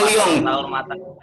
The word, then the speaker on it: Lyon: Salam kenal dari Lyon, Prancis. Saya mau Lyon, bacanya Lyon.